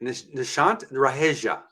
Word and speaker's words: Nishant Raheja: This is Nishant Raheja. Is this correct? Absolutely correct. Really, I got it right. Nishant Raheja. Pronounce it Exactly, for that's me.